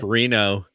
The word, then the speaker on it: Renault: I I thought it was spelled like the French way, you know, like R E N A U X. That's how it was spelled. So I didn't recognize Straight up Reno.